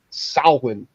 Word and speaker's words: Samhain: It's actually pronounced Samhain.